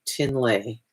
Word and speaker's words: Trinley: Her name is spelled Trinley, but it's actually pronounced Tinley.